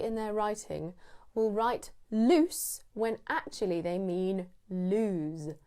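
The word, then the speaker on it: Luce: This also sounds like my nickname. My mum calls me Loose. Everyone calls me Loose. You can start calling me Loose, but it's spelled L-U-C-E, not L-O-O-S-E.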